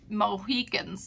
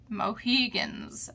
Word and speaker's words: Mohegan: like a bunch of Mohicans and stuff mohegans actually not Mohican it's spelled m-o it's h-e-g-a-n but and it's from